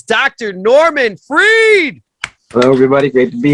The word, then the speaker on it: Freed: It looks like fried, spelled like Freed. When he's not on CNN or BBC News, he's right here on your YouTube, baby. It's Dr. Norman Freed.